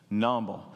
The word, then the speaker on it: numble: something to do with a French word called numble can you say it with me numble now you got to say it like the French do noble n very good see